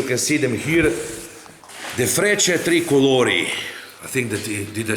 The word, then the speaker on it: Frecce Tricolori: The Frecce Tricolori. I think that, did I say it right? Frecce Tricolori.